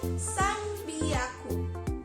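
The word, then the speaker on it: 三百: Tapi karena ini spesial, dia nggak san hyaku, tapi menjadi san biaku. Oke, ditulisnya san biaku, tapi dibacanya itu san biaku.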